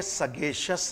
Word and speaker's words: sagacious: तो ये जुडिशियस है और ये सगेशियस है। यानी इस ऊपर जो ऐसा मैंने एक बनाया, इसका मतलब हल्का सा ए का साउंड आपके गले में रह जाता है, सगेशियस, नॉट सगेशियस।